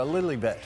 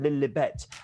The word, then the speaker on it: Lilibet: Well, it's because it was how Princess Elizabeth pronounced her own name, Elizabeth. She went Lilibet, and that's why she was always called that.